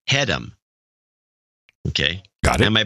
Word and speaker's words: Hedham: My last name is pronounced Hedham.